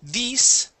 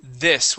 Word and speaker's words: this: Here you had said these. Okay, the word is this with a short I.